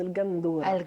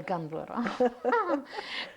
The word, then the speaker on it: gandoura: que au niveau allez on va la prononcer à la bonoise gandora gandora donc et elle est